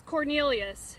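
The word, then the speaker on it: Quornelius: The first name is Cornelius. It's spelled Q-U-O-R-N-E-L-I-U-S.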